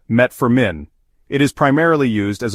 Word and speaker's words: metformin: may reduce its Effectiveness metformin also known as gluc is pronounced met Forin it is primarily used